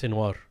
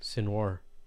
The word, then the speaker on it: Sinwar: I thought the J is silent, or the Jim. I thought it was Sinwar.